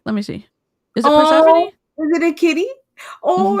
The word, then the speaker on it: Persephone: Did I pronounce it right? Persephone? Yeah, Persephone.